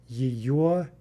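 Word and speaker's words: её: Again, note that the g is being pronounced like a v. Yvo, yvo, yvo. For ana, the word for her, we get yiyo, yiyo, yiyo.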